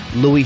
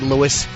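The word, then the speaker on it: Louis C.K.: Voss Steven Lynch myself Lou CK and on the promo could they stop pronouncing it Louis it's not Louis I know they say CK he is Lou we can't get anything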